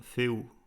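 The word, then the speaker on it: ᚠ: le dire cette rune elle se nomme fou je vous l'écris juste là en dessous que vous sachiez l'orthographier ça s'écrit fait U mais ça se prononce fait oou dans ma tradition de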